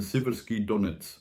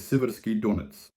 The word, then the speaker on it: Siversky Donets: The city is Siversk, the river is the Siversky Donets. That's how it's spelled, not Donetsk, Donetsk. The Ukrainian way. The place is Siversk. The river is Siversky Donets.